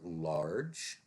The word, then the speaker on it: large: Then we have large. Large is followed by a silent E. So this is J, as in jazz.